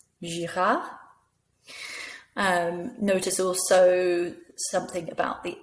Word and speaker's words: Girard: Notice again, that's right, the last letter isn't pronounced. Simon, Leblanc, Girard.